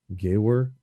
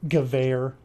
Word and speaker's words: Gewehr: That's a semi automatic rifle, but then you get a semi-automatic Gawer, which is great It's in pronounced theory. Gewehr.